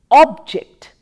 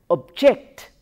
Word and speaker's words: object: and as a word when we use it as a noun we pronounced with the stress on the first syllable as object object stresses on the